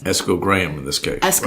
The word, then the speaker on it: Esco Graham: I mispronounced his name for the longest time. It's Eschol, and I'm calling him Eschol. And somebody corrected me, no, who knew him? Said, no, it's Esco Graham.